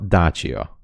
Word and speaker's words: Dacia: we pronounce Dacia Dacia here in Hungary.